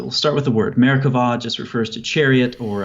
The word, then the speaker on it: Merkabah: It's spelled with a B-A-H at the end most of the time, but the B in Hebrew doesn't have something called a dagesh. So it's pronounced Merkavah with a V sound.